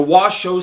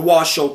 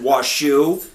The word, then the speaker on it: Washo: have nothing against the Washo people I understand that I Mis I mispronouncing I said waso it's it's because I'm